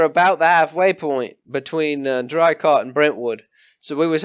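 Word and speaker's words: Draycott: Not Drycott. It's Drycott.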